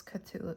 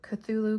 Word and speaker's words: Cthulhu: cthulu I think I I think there are lots of different ways to pronounce it but um I think I read on Wikipedia that it's commonly pronounced as cthulu or culu oh I'm glad I